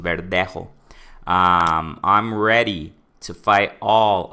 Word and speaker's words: Verdejo: In Spanish, right? That's like his pronunciation, the technical pronunciation, Verdejo.